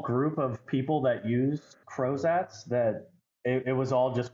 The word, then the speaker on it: Crozat: So a Crozat is a light wire appliance that is used in interceptive orthodontics.